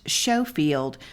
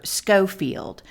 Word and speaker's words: Schofield: By the by, but since the last episode, it's been brought to our attention that the commander of the Army of the Ohio's last name isn't pronounced Schofield, but rather Schofield.